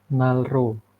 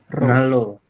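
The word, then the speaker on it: 난로: ini di itu nya adalah nanro berarti dibacanya gimana nalro Nal Nalo Iya Nalo ya bukan nalro tapi Nalo seperti itu Oke sampai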